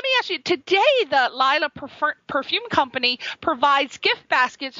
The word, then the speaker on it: Laila: itself it spells l-a-i-l-a in her way we pronounce it Lila he had to say Layla but it's actually I'm all right right we're